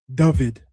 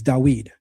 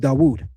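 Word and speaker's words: דוד: Uh we're not saying David, it's dawed. I'll even accept dawoud. So we're pronouncing that six letter as a W. European Jews are pronouncing it as a V.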